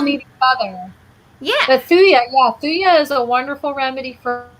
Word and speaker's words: thuja: I constantly call it thuja. It's thuja.